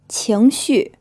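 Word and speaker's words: 情绪: 情绪 This is pronounced with a second tone, then a fourth tone, and this means feelings or emotions.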